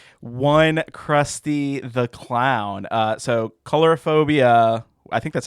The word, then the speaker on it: coulrophobia: So Coulrophobia, I think that's how you pronounce it. Warning for this one. Coulrophobia.